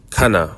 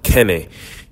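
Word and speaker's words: Cana: at a wedding in a place called Kaa or Ken depending on how you want to pronounce it it is c a n a this was in Galilee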